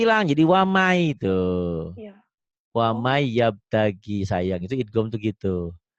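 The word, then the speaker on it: وَمَن يَبْتَغِ: Ditulisnya waman. Waman yabtagi. Dibacanya tuh wamai. N-nya ada nggak? Nggak ada. Nggak ada. Itu namanya idgham. Cuman di idgham itu nanti ada yang diidghamkan disertai dengan dengung, ditahan, ada yang enggak. Ini idgham biguna itu dengan dengung dan ditahan. Waman yabtagi. Jadi dibacanya wamai, ditahan, dengung.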